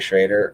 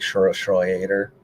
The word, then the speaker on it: Schroeder: It's like Jeffrey Schroeder, but he just calls him Jeffrey Schrader or something. But it's like Schroeder. Like he's actually German descent.